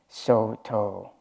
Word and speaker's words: Soto: In Japanese, we pronounce it Soto.